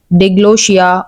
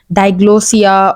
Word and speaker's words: diglossia: Okay, so that we can understand the term diglossia, or either we can also say it diglossia, or there can be various pronunciation of this particular word.